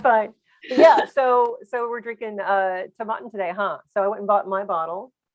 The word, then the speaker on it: Tomatin: And this is all about Tomatin, or some people pronounce Tomatin.